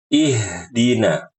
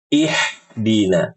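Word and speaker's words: اهدنا: ya berikutnya pada kata ihdina nah ibu-ibu huruf mengubah huruf ha besar menjadi ha kecil yang harusnya dibaca ih ihdina ihdina dibaca jadi ihdina ihina dengan H kecil ini salah dan ini wallahuam termasuk kesalahan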